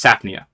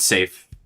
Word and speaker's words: Saphnia: You have Saf, and then you have Nia. It's Saphnia. It's not safe.